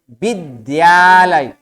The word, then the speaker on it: विद्यालय: कभी उच्चारण में इसको विद्यालय विद्या तो है ही नहीं ध तो है ही नहीं भाई यहां पर क्या ये द है क्या उच्चारण होगा विद्यालय द का उच्चारण करना